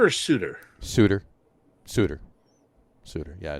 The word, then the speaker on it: Sutter: it's kind of su it's spelled Sutter but I believe it's pronounced Suter either way pretty good